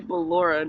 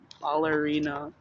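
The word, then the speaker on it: Ballora: these Amron names Bora it's supposed to be balora not ballerina be balora baby Funtime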